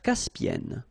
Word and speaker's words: Caspienne: E and then double consonant here, and it's the same. And N. So it does open the sound here. So it's E, E. Caspienne.